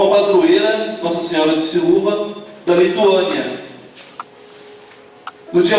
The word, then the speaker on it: Siluva: Bom, depende do tipo de pessoa, mas na verdade a gente entende como Nossa Senhora de Silúva. Silúva.